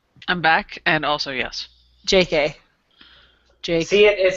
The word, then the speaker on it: J.K.: And Moo's favorite is a fluffy-haired, self-absorbed, narcissistic, two-faced, goofy party boy named J.K. Pronounced J.